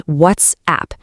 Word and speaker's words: WhatsApp: But we actually need two very distinct beats here. It's WhatsApp. You really want to hit that T and S clearly and then give the app its own space to breathe.